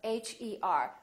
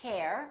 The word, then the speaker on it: her: For example, ER, as in words like her, H-E-R. We don't say hair, we say her.